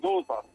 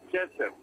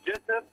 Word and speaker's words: جسر: مثلا ناخدوا مثال، تمثال الملك جسر، والجسر هذا هو الذي نسميه الآن نحن جوزر، لكن هو في التسمية الهيروغليفية جسر، يعني هو علشان إيه ننطق اسمه الهيروغليفي مظبوط يبقى جسر.